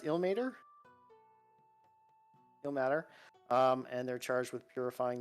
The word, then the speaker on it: Ilmater: Is it pronounced Ilmater? Ilmater.